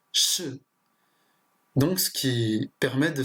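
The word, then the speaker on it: 是: Donc par exemple, là, le pinyin, ça se prononce sh. Donc ce qui permet de savoir que ce caractère se prononce sh, ce qui signifie le verbe être.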